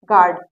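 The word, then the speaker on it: guard: silent कहां होता है तो पहला है यू जी और किसी वल के बीच में आए तो यू साइलेंट होता है तो ध्यान से देखिएगा अगर यू जी और किसी वल के बीच में आए इन दोनों के बीच में अगर यू आता है तो यू साइलेंट हो जाएगा देखिए एग्जांपल समझते हैं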